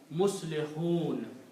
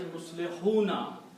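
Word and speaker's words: مصلحون: ayat and you stop, you will say Muslihun. Okay? The actual word is Muslihuna. If you want to continue to the next ayat reading, then you will pronounce Muslihuna and combine with the next part. But if you stop here, the rule is of tajweed that doesn't matter whatever is on the last letter, you don't pronounce that harka. So you say Muslihun, you stop there.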